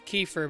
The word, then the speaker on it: Kiefer: what this says so this is kiefer but it's spelt slightly different i think this one was i e it's kiefer okay supposed to be kiefer